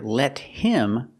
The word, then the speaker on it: let him: We hear let him, the T is a fast D, let him.